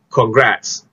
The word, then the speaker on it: congrats: Okay, sebab ejaan ni ada O, so kena bunyi con lah kan? Tak, sebenarnya salah. Untuk perkataan ini, anda kena sebut sebagai congrats.